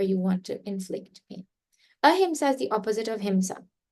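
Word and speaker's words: अहिंसा: becomes opposite be careful if you put a ah then it reinforces the meaning sometimes right if you say ah hims means a lot of Hima so please say it correctly a him is nonviolence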